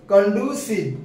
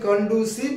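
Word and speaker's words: conducive: ইজ নট ঠিক আছে কন্ডিউসিভ উচ্চারণটা হচ্ছে কন্ডিসিভ অনেকে কন্ডিউসিভ বলে কন্ডিসিভ হেল এই কন্ডিসিভ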